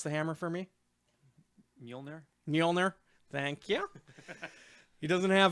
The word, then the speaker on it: Mjolnir: Mike, pronounce the hammer for me. Mjolnir.